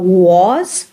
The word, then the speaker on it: was: But when we want to say it, instead of was, we say was. It is shortened, and it sounds like very short oo, was.